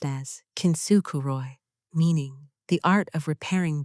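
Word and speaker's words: 金繕い: The eighth thing, kintsukuroi, pronounced as kintsukuroi, meaning the art of repairing broken pottery with gold, making the crack the most beautiful part of the object.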